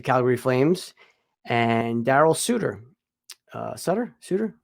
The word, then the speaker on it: Sutter: Sutter? I always say his name right. Sutter. It's Sutter. It's Yes. Sutter? I thought it was Sutter.